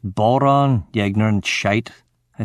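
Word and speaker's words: bodhrán: It's pronounced boron, you ignorant shite, I said to Bob.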